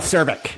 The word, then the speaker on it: Czervik: Al Czervik.